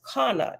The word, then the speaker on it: Hana: familiar English version of the Hebrew name Hana pronounced Kana it is spelled c-h-a-n-n-a-h